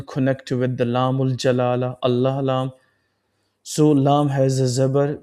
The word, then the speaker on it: الله: So the sound of lamb will be pronounced with the heavy thick and full mouth sound.